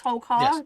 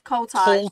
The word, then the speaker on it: Koltai: Is it yes, Tolkar? Tolkar? Is that right? Koltai, It's Koltai. Koltai, Koltai. Accent.